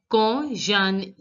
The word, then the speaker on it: quand: Quand, D is not to be pronounced.